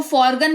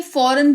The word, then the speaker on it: foreign: है वो एन है, तो इसको फॉरगन नहीं फॉरेन पढ़ते हैं।